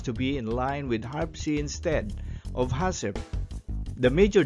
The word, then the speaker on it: HARPC: on the acronym of h-a-r-p-c or pronounced as harpsi h stands for hazard